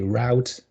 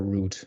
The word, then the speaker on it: route: You can say route or route. So you can have router and router.